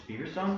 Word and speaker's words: Feverstone: Featherstone. It's Feverstone? Feverstone. Oh, man. Because in the British, they pronounce it like Featherstone.